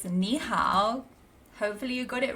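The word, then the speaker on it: 你好: It's nihow.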